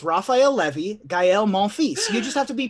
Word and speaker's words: Gael Monfils: levy that's Gael Monfils no it's Rafael levy gaël Monfils you just have to be pretending to be